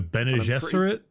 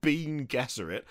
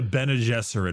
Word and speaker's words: Bene Gesserit: And there's things like psykers in the form of the, I thought it was pronounced Bene Gesserit, which is not how you pronounce that. The Bene Gesserit? Yeah. Yeah, it's not Bean Gesserit.